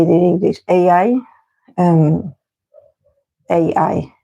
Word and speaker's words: AI: this is made with IA. Not IA, sorry. How do you say it in English? AI? AI, not IA. IA is the Spanish.